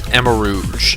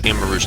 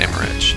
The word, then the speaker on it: Amarouge: Yeah, it's Amarouge. Amarouge, not Amaretto.